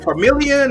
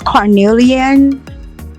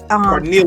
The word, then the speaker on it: Carnelian: Is it Carmelian or? It is Carnelian Carnelian.